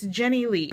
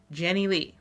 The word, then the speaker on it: Jennilee: that hard you know it's it's jenny lee it's spelled j-e-n-n-i-l-e-e jenny lee not that hard at